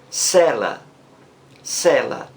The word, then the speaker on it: cela: Preste bem atenção. O som é o mesmo. Cela, cela.